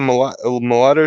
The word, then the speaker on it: mulatto: Mulatto? That's a mulatto chick or something?